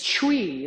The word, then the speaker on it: chui: And the sixth one is chui, like we, but with a ch in front of it. It's just one syllable, chui.